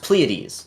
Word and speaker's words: Pleiades: Yeah, the last kind of unique thing that we'll show off is, I believe it's pronounced Pleiades.